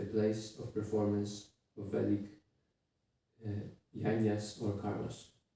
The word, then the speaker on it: Yajna: of performance of Vedic Yajnas or karmas. Like how to pronounce this? Yajna? Yeah. So it's like, Yeah. like G, but it's not there, right? Yagya? Yeah. Yagya.